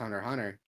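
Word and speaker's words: Hunter × Hunter: Hunter is just pronounced Hunter Hunter. You don't pronounce the X.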